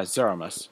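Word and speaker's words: Zeromus: Oh, that's how you pronounce it. Yeah, Zeramus. That's how I pronounce it. Okay. Zeramus.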